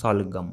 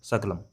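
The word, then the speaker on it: ਸ਼ਲਗਮ: The The vegetable name is shalgam, all right? But I pronounce most of the time wrong. I say saglam, all right? Saglam. Saglam, that's the wrong, but it's shalgam, all right?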